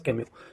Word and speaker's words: Camus: Camus, I know it is spelled as CMUS, but it is pronunciated as Camus.